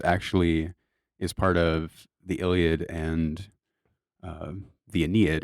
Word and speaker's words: Iliad: That's how you say it, the Iliad.